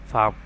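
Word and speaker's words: palm: Same একই রকম পি এল এম, এল এর উচ্চারণটা আসলো না, হচ্ছে এটা ফার্ম।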